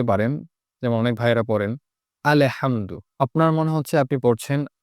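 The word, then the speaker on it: الحمد: তো অনেকে এই সাকিনটাকে ধরতে পারেন না, হামেদু হয়ে যায়। হামেদু, আল্লে হামেদু এরকম। অথচ এটা স্পষ্ট হবে আলহামদু।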